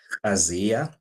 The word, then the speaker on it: Kraziya: So, I am Kraziya, pronounce it with a KR.